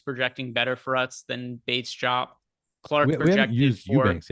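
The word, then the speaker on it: Bates-Diop: Greg, I gave you so much credit for pronouncing that name correctly, and now you're screwing it up on air. Yep. Bates Jop. Keta Bates Jop.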